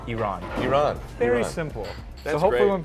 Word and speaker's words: Iran: run to I'm like it's simple the letter e everyone can say and then the person's name wrong put them together quickly Iran Iran very simple hopefully